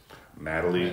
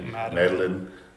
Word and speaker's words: Madeley: Madeley, Madeline, you know, all kinds of stuff, except for Madeley.